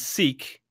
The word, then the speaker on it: sic: yeah that's what it's because it comes in a Latin adverb sick meaning thus so that will not pronounce the I as an a they pronounce it as an e sick see according to